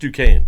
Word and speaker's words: Duquesne: It's just Duquesne.